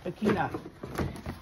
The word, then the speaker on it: Bekina: Careful how you pronounce that one. Bekina, made from neoprene.